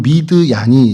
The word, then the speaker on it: 미디안: 그래서 그 미디안에 대해서 조금 좀 설명을 드리면 어 미드이 미디안이라고 저희는 하지만 히브리 발음으로 하면 미드얀이 이제 좀 정확한 발음이죠.